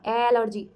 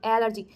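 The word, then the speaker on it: allergy: एलर्जी की ये spelling होती है। बट साउंड सुनाई दे रहा है ई का। एलर्जी एलर्जी तो ई से आपको ए में कंफ्यूज नहीं रहना।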